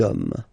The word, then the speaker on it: hommes: and after that you just put the s at the end. You don't pronounce it, so you get des hommes, des hommes, des hommes.